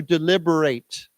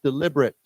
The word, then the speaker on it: deliberate: Just pronounce the a as a long a.